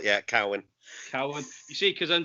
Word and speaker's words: Cowan: It's as it's spelled, yeah, Cowan. Cowan. You see, because I'm just... Everyone tries to be polite. You see, it says, is it Cowan? No, it's Cowan. It's as it's written.